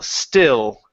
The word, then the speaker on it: still: okay uh right here instead of saying Ste okay give me an l sound okay it's a it's a tongue movement instead of a lip movement okay so you don't want to say Ste with an O at the end it's O still still still there you go good